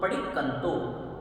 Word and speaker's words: पडिक्कंतो: तिविहेण पडिक्कंतो, अब यहाँ पर आधा क है फिर पूरा क तो पडिक्कंतो।